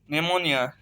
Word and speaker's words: pneumonia: जैसे PNEUMONIA, नेमोनिया। पी जो है पहला लिखा हुआ है, एन से पहले आया है तो पी जो है साइलेंट हो गया, नेमोनिया।